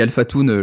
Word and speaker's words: Alphatoon: Je dis Alphatoon, je t'ai même pas demandé en introduction, mais c'est comme ça que ça se prononce. Ouais, c'est ça, t'as pas fait de faute, nickel.